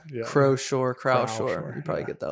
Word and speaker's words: Croushore: Cuz for a lot of times like the ocean shore. Yeah. But for a lot of times I wasn't sure if I was saying it right or wrong. Croshore.